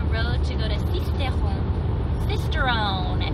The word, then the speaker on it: Sisteron: Sisteron, if you don't say it in a French accent.